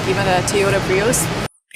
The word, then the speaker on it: Prius: When we link these two vowels, we hear y in the middle. Pre y Prius.